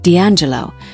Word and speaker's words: D'Angelo: By the mid-1990s, Michael Archer adopted the stage name D'Angelo, pronounced D'Angelo, and began shaping a